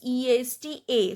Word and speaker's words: est: Then il est. This T is silent.